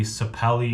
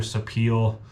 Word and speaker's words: sapele: Ended up going with maple and maples throughout all of this, and then walnut, and then the sapelli or sapele, depends how you say it, in there as well.